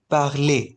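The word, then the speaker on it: parler: word लिख रहा हूं पी ए आर एल ई आर कैसे प्रोनाउंस करेंगे इसे पले पले है ना अच्छा अब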